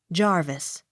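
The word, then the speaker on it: Jervis: s hughes j e r v i s jarvis j o h n s t o n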